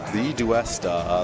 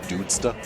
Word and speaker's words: TheDuesta: TheDuesta, that's... Okay, so that's how you pronounce it. I thought I was reading an extra D in there. I thought it was the Dudesta.